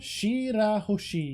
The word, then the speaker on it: Shirahoshi: prin prin princes Prince Shir hosi is that how you pronounce shiroshi Shir hosi you got it exactly nailed it in one I'm a I